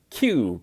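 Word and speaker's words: queue: The word is Q, Q-U-E-U-E. And if you take away 4 of the 5 letters, you still have the letter Q. So it's pronounced the same way, Q and Q.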